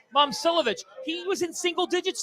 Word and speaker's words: Momcilovic: Pronunciation. Momcilovic.